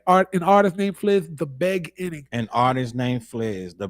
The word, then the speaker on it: The Beg Inning: An artist named Fliz, The Beg Inning. An artist named Fliz, The Beg Inning. It looks like it's beginning, but it's not.